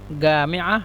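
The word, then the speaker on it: جامعة: আল জামিয়া জামিয়াকে মিশরেরা গামিয়া বলে। গামিয়া জিমকে গয়ন উচ্চারণ করে।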